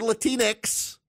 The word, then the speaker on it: Latinx: at them as up you're latinx rhymes with Kleenex you're latinx I noticed